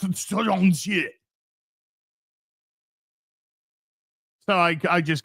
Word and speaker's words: Shang-Chi: No, actually, it's pronounced Shang-Chi.